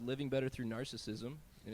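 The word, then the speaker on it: Gnarcissism: This song is called "Living Better Through Narcissism," and it's spelled with a G on narcissism for gnarly.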